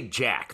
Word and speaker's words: Jacques: swordsman as we know i do think they say jack they say jack jack sure to uh it's just spelled like in the french style jacques yes but uh jack